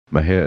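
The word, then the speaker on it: Mexia: For correspondence, send to M&J Audio Theater, 923 East Main, Mejia, Texas. Mejia is spelled M-E-X-I-A.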